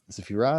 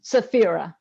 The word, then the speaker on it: Saphira: the phrase that um sephirah is that how you pronounce your name is that correct i pronounce it saphira the pura great spirit